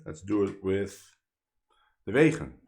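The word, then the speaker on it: Wegen: Well, that's the Dutch pronunciation because he's Dutch. But maybe you would say vegan or vegan, right?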